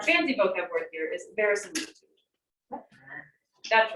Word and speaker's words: verisimilitude: Now, Fernando, what does that word sound like? What you just said earlier. It sounds like the word similar, right? Very similar. That sounds like very similar.